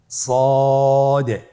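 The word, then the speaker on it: ص: সদ হরফটি পুর হরফ। মোটা হরফ উচ্চারণ ক্ষেত্রে মোটা করে পড়তে হবে এবং উচ্চারণ করার সময় তিন আলিফ টেনে পড়তে হবে।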